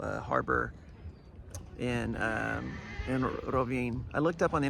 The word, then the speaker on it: Rovinj: mind it was like it's got to be Rin because there's a J at the end but apparently it's very very soft so the locals say like Rin um and so uh